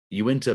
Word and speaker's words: Uinta: pronouncing this wrong, I believe it is the Uinta Basin. Am I saying that right? Perfect. Yep. Okay. Uinta Basin.